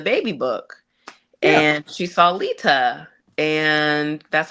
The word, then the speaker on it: Leta: It's Leta.